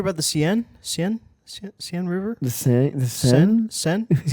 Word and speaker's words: Seine: The Seine?